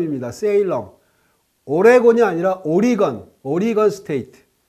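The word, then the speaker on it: Oregon: 씨아 틀로 표시 했구요 올해 권이 아니고 오리건 인데 항상 올해 권 이라고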